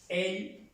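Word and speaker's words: elle: Y la pronunciación para ella en francés es él en español.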